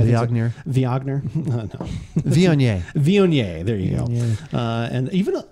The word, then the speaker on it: Viognier: Is that how you pronounce it? Viognier? Viognier. Viognier.